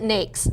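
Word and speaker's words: NAICS: pronounce it is it niax or how do you pronounce that i pronounce it next so i could be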